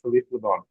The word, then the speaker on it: Philippe Leon: And you've recently had a a show at the correct me if I'm mispronouncing this. Phipe Leon Gallery. Is that right? That's correct. Yeah. Philippe Leon.